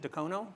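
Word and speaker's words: Dacono: And I'm not going to say this right, but is it Decono? Decono.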